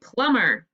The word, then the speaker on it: plumber: let's underline it and the b is the silent letter so we will cross it off plumber great job erase